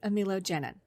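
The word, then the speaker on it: amelogenin: So now I pronounce it correctly, amilogenin.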